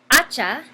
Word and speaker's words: hacha: A, hacha, a. La sílaba con más énfasis es la primera sílaba. Y también empieza con el sonido A. No importa que tenemos aquí H. Esto no es importante. Porque la H no tiene sonido.